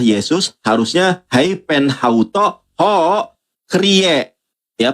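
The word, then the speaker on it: κύριε: Kalau tujuannya adalah Yesus harusnya haen hauto ho krie. Ya, kurie tulisannya dibacanya krie bukan kurios.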